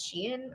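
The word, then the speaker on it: Shein: Also, um it looks a lot like a hat that was on is it pronounced Shien? I always thought it was Shine, but apparently it's Shien or Timu or whatever.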